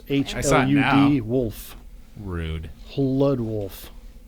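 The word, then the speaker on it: Hludwolf: Lud Wolf. Maybe the H is silent. I can pronounce that. Lud Wolf. Lude Wolf. That's probably it.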